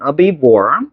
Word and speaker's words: herbivore: Big mammalian herbivore species. 요런 게 나오네. 자, 그래서 mammal이지, mammal. 그치? 포유류의 mammalian. 그치? 이거 H 발음 거의 안 낸다. herbivore.